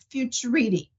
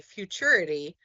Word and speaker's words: Futurity: So I've been telling everybody futurity. Okay. Thank you. Rhymes with maturity. So, as an easy way to remember, as a student matures and comes into their maturity, they can use futurity.